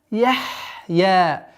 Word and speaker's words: يحيا: Валя яхья. Яхья. Нужно четкое произношение звука ха с сукуном.